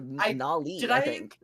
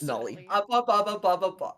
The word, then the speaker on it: Nollie: Not Yeah, you said Nila, I think, earlier. Or Nali. It's Nollie. It's Nolly.